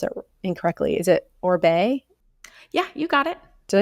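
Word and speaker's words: Oribe: um just started using um like I always pronounce it incorrectly is it orbe yeah you got it did I say it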